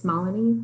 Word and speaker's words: Malini: it it you know it's it's malini like melanie so i have to